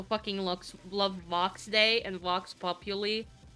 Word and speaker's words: vox populi: By the way, it's pronounced Vox Populi. It's not pronounced Vox Populi, but that's how they pronounce it in the song, so... meh. But it is not how it's pronounced. Because it comes from the Latin saying.